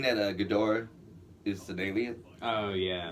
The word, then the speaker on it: Ghidorah: Sometimes people pronounce his name Gydra because he's like a Hydra.